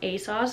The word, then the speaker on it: ASOS: up last winter on a sauce i believe or asos i feel like the british youtubers say a sauce and then the americans say asos i don't know um